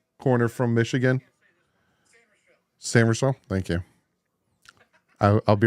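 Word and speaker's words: Sainristil: Corner Mike Saint Ristel. Jason, I'm going to jump in here real quick. How do you say Mike's last name? Corner from Michigan? Samersville.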